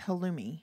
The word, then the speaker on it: halloumi: pronounce it it's like hallouy cheese or something but it's uh but it what it is it's a denser non-melting cheese it's halloumi halloumi cheese h-a-l-l-o-u-m-i also known as bread